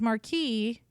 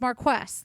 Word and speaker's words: Marquess: I swear somebody told me it was Marquis. Oh, that might have been me. It's not. It's Marquess. That's correct.